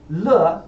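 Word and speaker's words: 乐: Sizzle, the Chinese character that means character is pronounced z, and if you say it twice, it means every character. So z z. Le means fun in Chinese.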